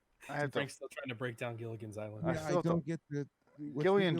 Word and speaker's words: Gillian: break down Gilligan's Island Gillian Jacobs her name is the female lead she pronounce her name with a hard G she's from community which